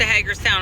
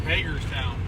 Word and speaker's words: Hagerstown: meteorologist Well the West Hager town on the radar looked horrific you said it wrong it's Hagar town so this is encouraging